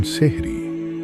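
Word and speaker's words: সাহরি: অনেকে বলেন সেহরি, কেউ বলেন সেহেরি, কেউ আবার শাহরি। নামের উচ্চারণে পার্থক্য থাকলেও এর গুরুত্বে কোনো পার্থক্য নেই।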